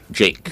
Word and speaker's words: JVKE: Juke, right? Oh, Juke? Jake. Jake. Okay, JVKE. Oh my God. Can you imagine that, Anthony? JVKE is Jake.